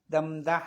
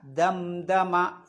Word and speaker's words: دمدم: പിന്നെ ഫദംദമ, ദംദഹ എന്നല്ല, ദംദമ ഫദംദമ.